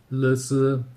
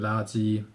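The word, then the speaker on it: 垃圾: 最有名的例子大家都应该知道，那就是垃圾跟垃圾。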